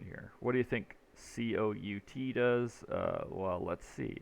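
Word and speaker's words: cout: your code in here what do you think c-o-u-t does uh well let's see it it's pronounced c out this is pronounced end line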